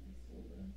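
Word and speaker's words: Isolde: I'm pretty sure that's how you pronounce that name. I sold.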